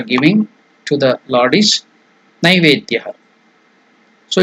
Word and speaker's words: Naivedya: So, what is the meaning of the Sanskrit word Naivedya? The pronunciation is Naivedya. Some people tell it Naivedya. It is not Ne. It is Nai, N-A-I, Nai. Naivedyam, Naivedyam.